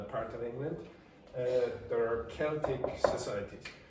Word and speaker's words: Celtic: The pronunciation of that is like that, okay, Celtic. Now, sometimes you will see some football teams or basketball teams pronounce with S, but they're American, and sometimes in Glasgow, for example, they're called Celtic. Okay? They are ignorant.